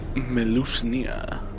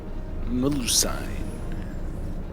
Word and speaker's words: Melusine: Melusnia. Melusine. That's how you say it.